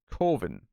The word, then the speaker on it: Coven: called coven except that it's pronounced coven because this writer director thinks that coven sounds like oven and that's stupid and